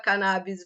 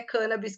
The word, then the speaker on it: cannabis: duas pronúncias são corretas cannabis vem de origem de Portugal e porém é cân Abis que tá registrado na Academia Brasileira de Letras e essa é a pronúncia dotada por esse grande professor professor Dr elisaldo carlini e eu sigo nessa pronúncia porém as duas podem ser adotadas muito bom bom gente